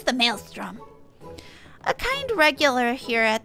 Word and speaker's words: Maelstrom: give you a hint what begins with a M sound and rhymes with Alstrom give up I'll tell you it's the Maelstrom a kind regular here